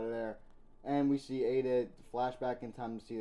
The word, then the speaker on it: Ada: chickmoore has either uh I've been pronouncing eat it wrong the whole time it's Ada according to the anime Ada to confirm if